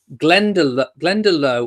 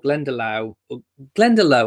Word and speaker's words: Glendalough: And I think I said Glendalough or Glendalough, I think I said. And I think the Lough is pronounced Loch.